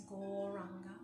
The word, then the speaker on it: Gauranga: The mantra we're going to be saying is Gauranga. Said in 4 syllables, Gauranga.